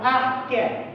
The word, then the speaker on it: arché: chamamos de aqué tá que a gente se escreve Aé mas nós entendemos dentro da tradução linguística como arqué o que que foi